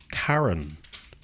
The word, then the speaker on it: Charon: A lot of Greek names starting with CH are actually a K sound. So, so Charon should be Karen.